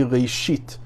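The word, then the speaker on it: ראשית: You say reshit.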